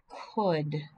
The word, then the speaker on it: could: are three of them could c-o-u-l-d would w-o-u-l-d-n should the l is silent could should would now